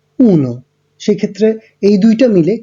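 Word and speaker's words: uno: 1 হচ্ছে উনো, 2 এর জন্য উচ্চারণটা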